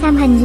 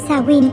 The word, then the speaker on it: Samhain: Trong thời hiện đại, Samhain, một từ tiếng Gaelic phát âm là Samhain, thường được tổ chức